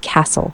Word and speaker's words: castle: Castle, silent T, pronounced castle.